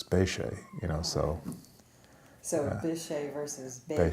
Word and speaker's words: Bechet: jazz musician and so when I hear his name pronounced and it spelled the same and I said ok no that's not quite the way I was taught how to pronounce it and they say you know Sidney Bechet and so my family always taught what we were taught from my our relatives spay Shay you know so they